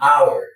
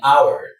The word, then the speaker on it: hour: So that's why you say an R or an hour. An hour. The H here is silent.